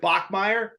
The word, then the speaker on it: Bachmeyer: You know, Trevor, is it Bachmeyer? Yeah, you got it right.